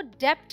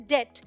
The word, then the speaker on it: debt: DEBT को डेप्ट नहीं बोलते, यहाँ B साइलेंट है, इसे बोलते हैं डेट।